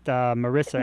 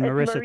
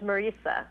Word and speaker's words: Marisa: I know it's Marisa, but it's pronounced like Teresa, not Marisa as in Marisa Tomei. It's Marisa.